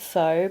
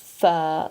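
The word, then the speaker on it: phở: on don't pronounce it Fox because in Vietnamese that means prostitute it's pronounced fur like a fur coat it's like a noodle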